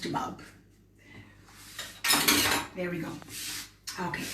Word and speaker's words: chabab: It's pronounced chabab.